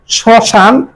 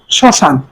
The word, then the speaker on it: শ্মশান: এরপরে শ্মশান শব্দটির সঠিক উচ্চারণ শ্মশান। খেয়াল করবি মফলা যুক্ত যদি প্রথম বর্ণে হয়, সেই মফলা মানে ফলা যুক্ত উচ্চারণ হবে না, একটু শাসাঘাত হবে, নাসিক্য হবে, শ্মশান।